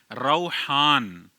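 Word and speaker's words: روحان: हैं तीसरा नाम है रौहान रा पर ज़बर है। वाव साकिन है। हा अलिफ और नून रौहान।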